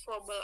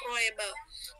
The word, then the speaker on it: Froebel: Froebel berpendapat bahwa tahun-tahun Froebel ya Bu, dibacanya Froebel, tidak perlu dibaca Froebel.